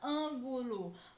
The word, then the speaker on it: ângulo: intensa da palavra ângulo basta pronunciar lentamente como se estivesse chamando alguém bolo percebam que a sílaba que mais demora ser pronunciada é a um ângulo portanto ano é a sílaba tônica turma a sílaba tônica é a antepenúltima sílaba da palavra ângulo portanto a palavra ângulo é uma palavra proparoxítona a e na palavra